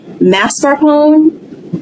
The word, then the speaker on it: mascarpone: We have mascarpone, blue cheese, cheddar, or American.